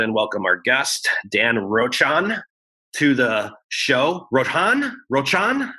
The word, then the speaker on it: Rochon: I say Rochon, but I'll whatever you got for me. Rochon.